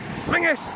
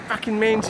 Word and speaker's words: Mingus: Mingus. It's Mingus. It's not Menes. It's Mingus. Mingus. Telling you. That's how you say it. It's Mingus. It's not Manges.